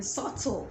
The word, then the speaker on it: subtle: the b silent comb in subtle subtle the b is silent subtle subtle not subtle